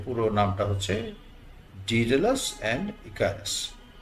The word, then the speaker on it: Daedalus: আমেরিকানরা বলে ডিডালাস। ব্রিটিশরা বলে ডিডলাস।